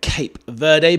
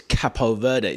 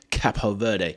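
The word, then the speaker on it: Cabo Verde: my age and ilk, I've always known them as Cape Verde, but you know, apparently it is Capo Verde. So, we're trying to go with the correct pronunciation.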